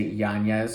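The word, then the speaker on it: Yañez: Of course, and I'm making a concerted effort to say Yanez because he's got that little tilde over the end, and I know that's how you say it, but it does not roll off the tongue quite as easily as Yanez.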